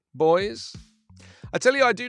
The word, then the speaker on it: Boise: how do you pronounce is it boys is that how you pronounce it boys i tell you i